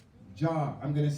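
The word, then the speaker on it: جار: J we're going to spell it j a r like a jar jar I'm going to say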